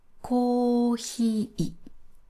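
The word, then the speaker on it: コーヒー: ピッチアクセントです。これは、コーヒー、いだけ低くなります。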